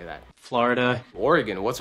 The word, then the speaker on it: Oregon: Originally, the state in the Pacific Northwest was most likely pronounced as Oregon. Oregon? That's crazy. However, over time, that changed to Oregon. Oregon, Oregon, okay? And today's most common pronunciation is Oregon.